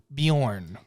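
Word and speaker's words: Björn: I think it's fine Bjorn thank you Vikings on History Channel for that lesson it is pronounced Bjorn now here's a movie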